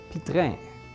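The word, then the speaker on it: Piétrain: Let me show you a picture of what a true authentic Pietrain Pietrain Pi- Pietrain This is the French style of pronunciation. Pietrain.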